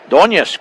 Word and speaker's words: Doñez: I've heard 2 different pronunciations. Doñez. So it is Doñez, como español.